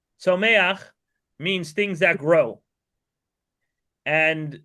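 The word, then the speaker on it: Tzomeach: Then the next level is to I would spell that T Z O M E A C H. Tomak means things that grow and that means trees, plants, um all sorts of vegetation.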